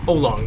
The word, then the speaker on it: Aolong: everybody keeps correcting me I think it's olong here there we go moyu oong that's how I'm going to pronounce it if I'm pronouncing incorrectly